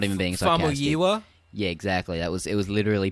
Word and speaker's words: Famuyiwa: Anyway, first of all, I just wanted to congratulate you again on pronouncing Famuyiwa perfectly. Like, that was just perfect pronunciation, not even being sarcastic. Famuyiwa?